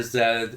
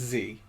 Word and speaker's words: Z: The film's title refers to a popular Greek protest slogan, I think it's pronounced Z, meaning he lives, in reference to Lambrakis.